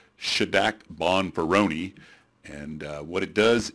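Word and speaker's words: Šidák: here's another post hoc test it's pronounced should act bonferroni and what it does is it's a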